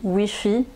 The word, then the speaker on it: wifi: wifi dans l'hôtel oui nous on dit wifi donc prononciation à la française voilà est-ce qu'il ya